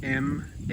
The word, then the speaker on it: Marche: Marche is spelled M-A-R-C-H-E, Marche.